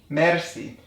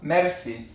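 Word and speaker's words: مرسی: from French words so we just make it with an IR an Iranian pronunciation and that is to roll the R so it's mer Mery so to say I'm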